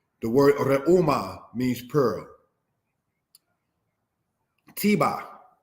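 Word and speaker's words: Tebah: Tiba, said in the language as tebak, because again, emphasizing on this letter here, ket.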